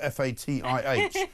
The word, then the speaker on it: Fatih: It turned out Fatih is a Turkish economist called Fatih Birol, spelled F-A-T-I-H, which is fine, but unfortunately for him, pronounced Fatih.